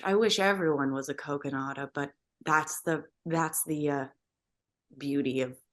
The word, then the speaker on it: Kogonada: Well, I was getting that's great, but I also wanted to mention, and am I pronouncing the director's name Kogonada? Kogonada.